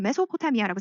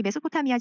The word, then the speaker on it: 메소포타미아: 메소는 S 발음이 Z 발음, 메조라는 Z 발음이 나기도 하고 S 발음이 나기도 하는데 이게 미들이란 뜻이라고 생각하시면 돼요.